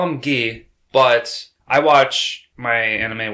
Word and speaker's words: Guy: the english it's still spelt g-u-y but it's pronounced ghee so i've yeah that confused me at first i'm like who's guy who they didn't even say guy but they say gee yeah so i'm sure it's going to cause